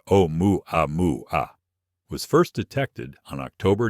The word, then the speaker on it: Oumuamua: For those unfamiliar with the story, Oumuamua, pronounced O-mu-a-mu-a, was first detected on October 19, 2017, by astronomers using the Pan-STARRS telescope in Hawaii.